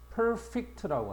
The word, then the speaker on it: perfect: 자, 우리가 일반적으로 1번에이 단어들 보면 형용사일 때는 강세가 앞에 간다. perfect. Perfect라고 하죠. e로 발음해라.